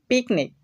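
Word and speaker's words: picnic: যেমন পিকনিক, পিকনিক মানে চড়ুই ভাতি, তো এখানে পিকনিক এর শব্দের শেষে আমরা সি বর্ণটা দেখতে পাচ্ছি, তাই কয়ের মতো উচ্চারণ করতে হবে।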